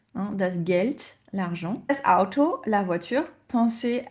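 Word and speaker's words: Geld: Attention H expiré house he das vasa l'eau das gelt l'argent vous entendez le D à la fin on le prononce t he does guelt l'argent auto la voiture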